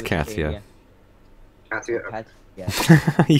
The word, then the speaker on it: Katia: I still don't know how to pronounce it correctly. Pretty sure it's Katia.